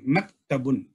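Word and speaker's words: مكتب: சொல்லுவாங்கன்னா மதபுன் அகைன் பாருங்க கேப் காப் கிடையாது மபுன்னு சொல்லக்கூடாது மக்தபுன் அரபி படிக்கும் பொழுது அதனுடைய உச்சரிப்பை கரெக்டா உச்சரிக்கணும் இல்லன்னா அர்த்தம் மாறிடும்.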